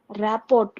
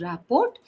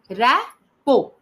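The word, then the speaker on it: rapport: Rapot ma'am. Okay. It is not pronounced as raot. It is rao. Rapo.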